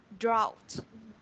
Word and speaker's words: drought: Và với từ này thì mình có cái từ phonetics, nó sẽ là drought. Drought. Ok, drought. Âm ao. Và nó sẽ là âm có cái ending sound là yes, perfect.